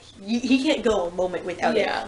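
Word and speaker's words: Gou: Which is Gooch. Go.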